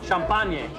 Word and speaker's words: champagne: Champagne.